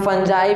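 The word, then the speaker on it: fungi: इसे हम फंजाई भी कह सकते हैं, फंगी भी कह सकते हैं और फंगाई भी कह सकते हैं, लेकिन हम क्या यूज़ करेंगे फंगी यूज़ करेंगे, जो हमारा इंडियन प्रोनाउंसिएशन में यूज़ होता है।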